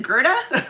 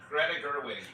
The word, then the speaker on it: Greta Gerwig: I don't think they were ready for what, is it Gerda? What is her name? Greta Gerwig.